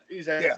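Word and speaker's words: Ezec: Ezek, there you go.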